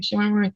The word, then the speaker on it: Shemar Moore: Shemar Moore.